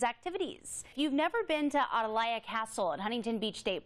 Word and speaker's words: Atalaya: I just learned it's Adelia yeah you talk to most people you're going to hear adalea which is the southern pronunciation of it um it's actually a